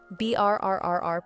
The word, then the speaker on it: BRRRR: BRRRR, pronounced BRR, stands for buy, renovate, rent, refinance, repeat.